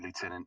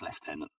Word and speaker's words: lieutenant: Only the Americans say lieutenant. It's pronounced lieutenant.